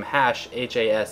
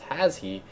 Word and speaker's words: Hashe: me believe it's pronounced has he but it's actually pronounced hash so I don't like